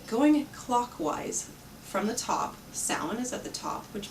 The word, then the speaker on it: Samhain: was used for the Halloween holiday was called Samhain, as it looks, but we'll see as soon as you look at the picture that I'm going to put on, it's actually pronounced Samhain.